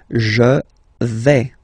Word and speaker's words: vais: Okay, so remember, final S not pronounced here. Je vais. Okay, when you combine this A-I, you get the sound E, really open.